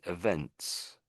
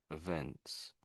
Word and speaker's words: events: And this second one is events. events.